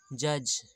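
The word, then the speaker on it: judge: जे को जा पढ़ेंगे, जैसे जज। यहाँ पर जी साइलेंट है, नहीं जी नहीं, ड, डी साइलेंट है।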